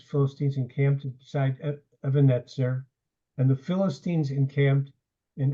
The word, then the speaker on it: Ebenezer: It's often usually pronounced Ebenezer. But when it's pronounced Ebenezer, you don't know what it means. Even is a stone, and Etzer is to help. So this was called the stone of help.